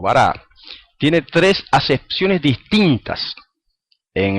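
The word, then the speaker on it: ברא: Fíjense la palabra eh creó dice en hebreo dice bará, aunque algunos lo pronuncian varó. el autor de que les mencioné al principio, eh, Morjayeri, la pronuncia varó.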